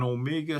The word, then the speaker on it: Omega: all of the old Omegas. I call them Omegas, but I think they're pronounced correctly is Omega.